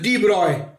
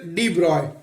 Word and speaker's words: de Broglie: Actually, in 1924, there was a great physicist, that is de Broglie, and pronounced as de Broglie. This de Broglie is pronounced as de Broglie.